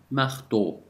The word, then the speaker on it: marteau: كيف تلفظ هذه الحروف؟ un marteau O E-A-U وتعني O أو تلفظ O.